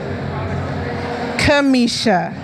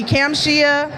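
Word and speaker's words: Kamshia: And the story behind my name is it is not spelled phonetically. It's spelled K A M S H I A. So, I get people that call me Camtia, Kamache.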